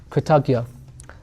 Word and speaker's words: Kritagya: Kritagya, sorry. Yeah, you could pronounce it like G. It's like this. Kritagya.